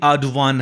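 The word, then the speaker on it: Erdoğan: हौजिक जिक ओइरिसे खोगी अर्डोगान हाय पाबा मतमददी प्रोनाउंस तौबा मतमददी अर्डोवान हायना पाव हाय अदुमाइना हायरबा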